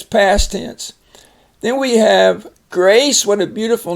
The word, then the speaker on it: Grace: Grace. And the E makes the S say, the C say the S sound, and the A's long.